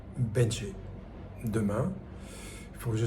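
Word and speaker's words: Bến Tre: d'abord aller à alors ça s'écrit Bentré. Quand j'ai dit ça, personne ne me comprenait, ça se dit, en fait, ça se dit Benché. Le TR, ça fait che.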